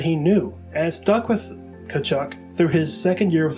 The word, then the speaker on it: Tkaczuk: the name that he knew and stuck with kachuk through his second year with the rangers as